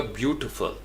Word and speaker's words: beautiful: पर गौर करना है कि ये टी नहीं निकलता। अगर आप इसको एग्जैक्ट कानों के साथ लगा के सुने बार बार तो ये होगा ब्यूटीफुल, ट फुल, यानी टी फुल नहीं है, ब्यूटी, चूँकि हमें पता है कि आई को हमने ई करके बोलना है, ब्यूटीफुल, ब्यूटीफुल, तो इस लफ्ज़ को आपने ब्यूटीफुल करना है, ओह इट्स ब्यूटीफुल, ब्यूटीफुल।